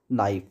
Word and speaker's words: NIFE: इट is mainly made up ऑफ द निकल and iron and it's calls नाइफ, okay. इसको English में NIFE नाइफ कहते हैं, और हिंदी में इसका जो प्रोनाउंसिएशन हो जाता है वो निफे हो जाता है, ओके।